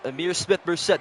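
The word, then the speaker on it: Ihmir Smith-Marsette: And is Amir Smith-Merced.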